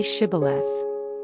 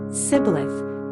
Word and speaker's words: Shibboleth: If he answered, "No," they told him, "Please say Shibboleth." If he said, "Sibboleth," because he could not pronounce it correctly, they seized him and killed him at the fords of the Jordan.